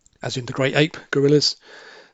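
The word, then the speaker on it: guerrilla: in the great ape, gorillas. So sounds like, but when you spell it in this context, it means a freedom fighter, as in a gorilla, G-U-E, 2 R's and 2 L's. Gorilla.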